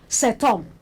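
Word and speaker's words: cet homme: H is silent there, don't forget.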